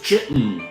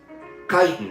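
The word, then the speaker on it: chitin: Do we pronounce it chitten or kiten? Which is it? Maybe the most important theme across responses was the infant. Thank you, Paige. Kitan. That's what I thought.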